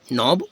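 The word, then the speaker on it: knob: ठीक है, ओके, ठीक है, नॉब।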